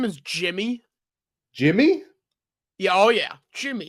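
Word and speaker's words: Yimi Garcia: And they're like, "No, like the media pronunciation guide says Jimmy."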